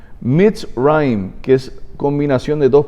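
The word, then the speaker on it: מצרים: En hebreo, Egipto se pronuncia Mitzrayim, que es combinación de dos palabras, y significa la concentración de toda la maldad.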